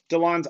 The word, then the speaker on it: Delon: Delon, you got it.